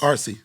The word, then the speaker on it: Arce: I want to say his name right. Arce, is that correct? Yes. RC.